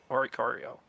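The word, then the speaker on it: Oricorio: In the TV show they officially pronounce it orario.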